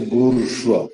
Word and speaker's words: bourgeois: When you say bourgeois, for example, Bourgeois, the S is silent.